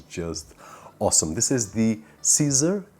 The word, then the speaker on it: CZUR: awesome this is the caesar this is the way that it's pronunciating portuguese it is a little bit different but caesar our pro